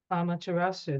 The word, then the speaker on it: Amaterasu: Amaterasu, that's how you say it.